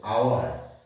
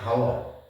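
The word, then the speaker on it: hour: ধ্বনিটি পাচ্ছি সেটি হলো আওয়ার নট হাওয়ার এটা হাওয়ার নয় এটা আওয়ার এন আওয়ার আবার দেখো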